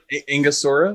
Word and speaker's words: Angostura: Angostura. Angostura.